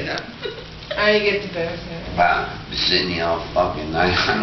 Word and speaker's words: Barataria: I get the barataria. Well, Sydney, I'll fucking, I'm gonna fucking get the barataria. Excuse me, sir, which street are you looking for? Barataria. You let me know how to get the barataria, I can maybe go home.